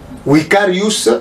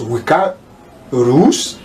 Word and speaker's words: Vicarius: Je prononce Vicarius Filii Dei. Vicarius, pourquoi? Puisqu'en latin le V est prononcé par ou. C'est pour cela que je prononce Vicarius Filii Dei.